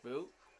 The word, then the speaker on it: Bo: I mean, he's Okay, Boo. this thing right here. I see you, Bo. Boo. Oh, Bo. Okay. Bo is how you say his name.